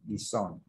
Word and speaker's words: dissolve: Dissolve, ta không đọc cái dissolve, dissolve, cái này là đọc là gì ạ? Cái này đọc là âm z, nên đây đọc là dissolve.